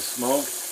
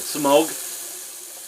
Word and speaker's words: Semogue: But that was the Semogue, not the Semogue, but Semogue 1250.